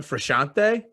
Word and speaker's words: Frusciante: solidify in the song it's John frashante sure like yeah I'll